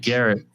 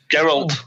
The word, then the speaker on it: Geralt: But I know it's like Garrett. Oh my god. Garrett Bischoff. Geralt. Aces and eights. Garrett Bischoff. Geralt. It's Geralt.